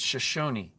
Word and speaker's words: Shoshone: It's not Shoshone, people. It's Shoshone. Shoshone.